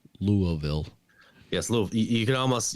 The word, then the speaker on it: Louisville: So he, a lot of people have been talking about Louisville because that's where John Cena trained in OVW in Louisville. Yeah. Can't call it Louisville, and it's not Louisville. It's Louisville.